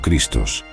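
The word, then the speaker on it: Χριστός: La frase clave Yo soy el Cristo se pronuncia Ego eimi ho Christos.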